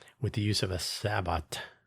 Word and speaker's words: sabot: the use of a sabot or sabot. Probably both pronunciations are common. Sabot, S-A-B-O-T, pronounced sabot, is a shoe or some other thing.